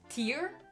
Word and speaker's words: Pierre: Pierre? That sounds. You're not pronouncing the I.